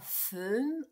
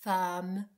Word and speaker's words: femme: C'est très rare, mais ça existe comme dans cette femme. Donc, tu vois femme, ça s'écrit qu'un e. On ne dit pas femme, on dit femme, traverse la route inconsciemment.